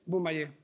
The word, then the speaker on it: Bumaye: Bumaye.